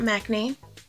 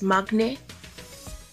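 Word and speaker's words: 막내: like recently found out it's not maknae it's magnet because the pronunciation with certain letters in the alphabet and yes I'll also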